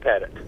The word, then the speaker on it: Pettit: Do you pronounce your last name? Is it Pettit? It's Pettit.